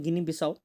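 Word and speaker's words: Guinea-Bissau: Then comes गिनी बिसाओ, ठीक है, इसको प्रोनाउंस किया जाता है गिनी बिसाओ।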